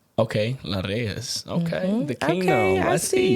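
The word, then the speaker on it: La'Reyes: is my modeling name my name is La Rees okay so la like how do you spell it l a apostrophe r e ye s okay laras okay the kingdom I see you see yeah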